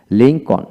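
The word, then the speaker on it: Lincoln: এরকম হবে তারপর আসেন লিংকন লিংকন ব্যক্তির নাম লিংকন এল উচ্চারিত হবে না তারপরে হোম এইচ এ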